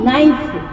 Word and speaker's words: knife: नाइफ, KNIFE, नाइफ, तो बच्चा कहता है इसमें N क्यों आया, इसमें NIFE आना चाहिए, K क्यों आ गया। तो टीचर कहती है बेटा तुमको ऐसा ही लिखना पड़ेगा, क्योंकि K साइलेंट है, बोला नहीं जाता, लिखा जाता, इसलिए तुम इसको लिखिए।